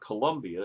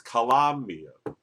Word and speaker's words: Colombia: Gotta say it right. It's not Colombia, it's Colombia.